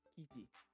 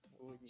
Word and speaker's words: Kuji: I mean, it's Kuji. 2 syllables, so it's kind of confusing for me.